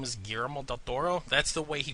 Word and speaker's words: Del Toro: or say his name I have to say it the way he pronounces it because when he comes like hello my name is gal Doro that's the way he